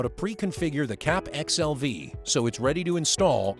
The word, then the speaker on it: CAPXLV: This video will give you the keys to successfully set up and connect a community with the CAPXLV (PRONOUNCED CAP X. L. V.)